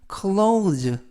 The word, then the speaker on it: clothes: 이때 발음에 유의하실 것은 clothes, THES가 동시에 발음이 돼서 의미는 옷이라는 뜻이고요. 그래서 이때 오도 발음이 오우, 그래서 clothes라고 발음하시면 되겠습니다.